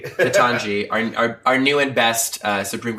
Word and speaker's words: Ketanji: Did I say it right? Yeah. Not Ketjani. I like Ketjani. Ketanji, our new and best